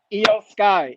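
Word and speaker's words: Iyo Sky: how do you say her name EO Skye yo Skye I think I got that as my winner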